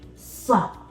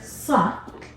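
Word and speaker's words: ص: try a little hint when I'm pronouncing the letter suck we are dropping our mouth suck so we're saying sup but we're dropping our mouth we're not showing our teeth the same goes for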